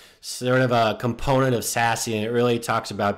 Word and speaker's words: SASE: I like SASE because you can say it, S-A-S-E, SASE.